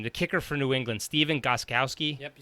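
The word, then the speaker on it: Stephen Gostkowski: The kicker for New England, Steven Gostkowski.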